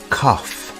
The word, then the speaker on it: cough: do you have a cough the word cough has an unusual pronunciation instead of a g sound we have an F sound here do you have a